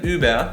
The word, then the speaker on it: über: bien lo encontrarías en palabras como über es como uber pero con ü ...